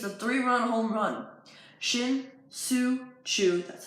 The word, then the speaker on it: Shin-Soo Choo: the East it's a three run home run shin-soo Choo that's how you say it think about that